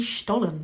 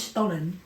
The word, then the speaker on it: Stollen: So up next we've got apple mini Stollen bites from Aldi. Right. Stolen bites. Stollen, yeah. How'd you say it? Well, I think it is Stollen, but we call it Stolen.